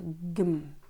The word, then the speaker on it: кім: «Ана жақта кім бар?» Теперь слово «кім» в этом предложении произносится как «гім».